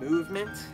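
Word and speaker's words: MVMT: These are from a brand called Movement. It's spelled M-O-V-M-T.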